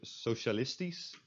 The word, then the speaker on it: socialistisch: If SCH is at the end of a word, or syllable I should say, then it's pronounced as S. So here the word socialistisch, which means socialist, socialistic,